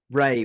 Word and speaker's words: Rea: Yes, Ray was his name. REA, it's spelt.